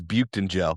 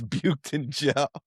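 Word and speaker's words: Büyüktuncel: And honestly, Hoyberg has done that guy's name is Bked in Gel, by the way. Yeah, sweet. That's how you pronounce boy and funkle is buked in jail.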